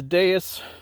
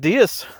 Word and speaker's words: Deus: Did I say it wrong? Is it Deus? Deus. They're picking on me because I'm calling it the wrong name, but we're gonna turn you into a Deus.